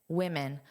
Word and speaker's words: women: So woman woman, but here in the plural it's W I. So it's that unstressed Iw Wii. Women women who drank one to three cups of caffeinated coffee.